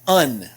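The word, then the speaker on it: een: as we go along this word is pronounced un just like the prefix un that we have in english so pronounce it just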